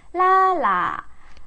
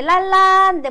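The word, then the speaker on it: 拉拉: 라라. 라라. 근데 이게 랄라인데 보통은 뒷발음을 잘 경성으로 처리하기 때문에, 라라, 띵띵, DC.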